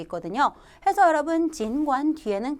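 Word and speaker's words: 尽管: 중요한 빈출 어휘가 나왔습니다 여러분 어떻게 읽어요 진관 진관이라고 읽죠 진관 하면 뜻이 뭡니까 비록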